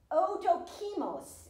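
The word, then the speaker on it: ἀδόκιμος: In the Greek, the word is odokimos is how you pronounce it.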